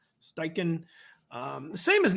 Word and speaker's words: Steichen: How do you pronounce his last name? Steichen.